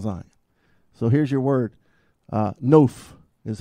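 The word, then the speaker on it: נוף: Noph is how you say it.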